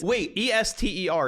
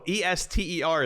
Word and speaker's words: Esther: Ester is how you pronounce that name.